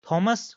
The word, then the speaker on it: Thomas: So that's why Thomas in genative will be Thomas with an apostrophe at the end and it will be pronounced simply as Thomas.